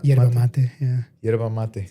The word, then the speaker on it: yerba mate: Yerba mate? Yerba mate, yeah.